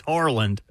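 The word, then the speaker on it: Haaland: Eric Holland is Eric. No, Erling. It's Harland.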